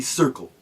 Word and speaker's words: Cyrkle: its own name that band is known as the circle no that is not correct I am aware of that but that is not how the band spelled its name the band name is spelled c yr k l e no I am not